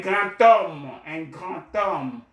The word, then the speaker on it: grand homme: the second one, un grand homme, grand is placed in front of the noun. I just said tom, right? The D becomes a T sound when it comes into contact with a vowel sound.